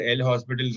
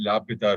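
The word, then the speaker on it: L'Hôpital: In Malayalam, it's called L Hospital's rule. It's actually pronounced La Pita rule.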